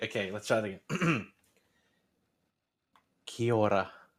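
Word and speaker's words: Kia ora: let's try it again kiora try and do it like a little bit of a roll of the tongue in the middle i can't see that's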